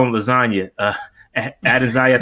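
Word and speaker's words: Adesanya: call him lasagna uh added zaya this is how you say his name but yo you can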